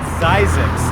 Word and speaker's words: Zzyzx: probably noticed this exercise it's pronounced zysics and to a Desert